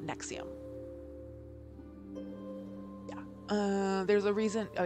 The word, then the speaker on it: NXIVM: heavily featured in this story um and like nexium is how you pronounce it but because they're pretentious ass hats it's spelled like it looks like it's roman numerals and it's n-x-i-v-m but it's pronounced nexium yeah there's a reason oh yeah um okay